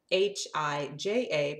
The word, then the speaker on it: hija: Hija, H-I-J-A, pronounced hija, means daughter. Hija. Can you say that? Try it. It's really easy. Hija. It's like the letter E and then like kind of a ha ha ha.